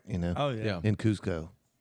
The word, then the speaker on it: Cusco: Cusco, right? Yeah. Cusco.